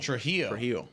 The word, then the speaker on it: Trujillo: Trujillo. Okay, so it's like an H in there.